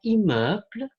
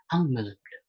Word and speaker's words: immeuble: Dan yang terakhir ada immeuble, tapi mungkin kita akan mengiranya di pertama kali dibacanya adalah ang meuble.